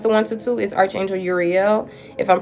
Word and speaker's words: Uriel: The archangel that usually is in your energy field when it comes to one 122 is archangel Uriel. If I'm pronouncing it wrong is spelled their name is spelled U R I E L.